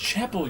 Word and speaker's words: Chappelle: It's pronounced Chapel.